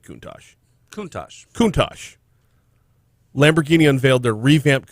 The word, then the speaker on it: Countach: Okay, there's some debate as to how it's pronounced, but I've always said Countach.